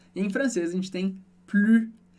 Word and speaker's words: plus: Super interessante, se escreve da mesmíssima maneira, mas em francês a gente não pronuncia o S do final, você já sabe lá da palavra tu changes, e o U sozinho na sílaba sempre vai ter som de U, como na palavra tu. De novo, a gente viu